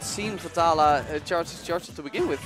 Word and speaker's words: Vetala: the taluk how long I'm gonna go with vittala with the English pronunciation potala potala ah so